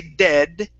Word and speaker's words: dead: move your tongue back the D in English actually feels like the r in Spanish okay so when I say dead Okay D it's like I'm it's like I'm using the r like Maria d d d Mari Maria dead d d okay when we